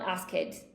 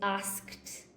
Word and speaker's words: asked: It's not asked, okay? It's asked.